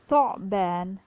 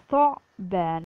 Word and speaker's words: ثعبان: We have 3 letters, حروف لثوية, ثاء, ضاء, ذال. Make sure you pronounce it from tip of your tongue. ثعبان, ثعبان.